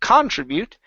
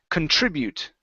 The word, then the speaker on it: contribute: last word is contribute so our stress is here instead of contribute okay it's Kun contribute contribute okay okay so